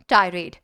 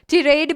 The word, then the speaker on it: tirade: टायरेड। टायरेड। टिरेड भी बोलते हैं इसको, बहुत बार टिरेड भी प्रोनाउंस किया जाता है, टिरेड भी इसका प्रोनाउंसिएशन हो सकता है, टायरेड भी आप इसे प्रोनाउंस कर सकते हैं।